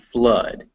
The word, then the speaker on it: flood: r poor or door some notable exceptions are blood and flood both of which it's pronounced uh blood and flood o u or o